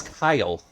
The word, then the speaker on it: Kail: It's Kail? It's Kyle. It's spelt weird, but it's Kyle.